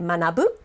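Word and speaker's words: 学ぶ: be the onyo me but the kung yomi the one that you combine with hiragana usually to make a verb or an adjective in this case you could add more hiragana characters and make it manabu which is to learn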